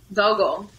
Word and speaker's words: Vogel: Vogel. Spell that.